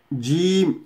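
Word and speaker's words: جيم: তারপরেটি হচ্ছে জিম। জিম যখন বলবো তখন এই জিহ্বার এই অংশটি উপরের তালুতে লাগবে, জিম, জিম, জিম এইভাবে।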